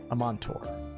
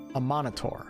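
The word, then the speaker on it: Amaunator: aspect of the long-dormant Amontor. Amonitor. I gotta start pronouncing that right. There's an A.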